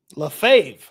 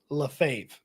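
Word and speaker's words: Lefebvre: what he gets paid lefave okay so I got it bad I got I got it way wrong Dylan sorry lefave so the r is silent and the B it would be wild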